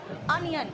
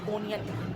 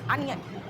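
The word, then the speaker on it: onion: बेटा ओ का प्रोनाउंसिएशन भी आता है, जैसे अनियन, कुछ लोग कहते हैं इसको ओनियन, बिल्कुल गंदा घटिया लगता है सुन के, इट्स अनियन। मैंने क्या कहा था, मंकी, देखो ओ का प्रोनाउंसिएशन आ रहा है।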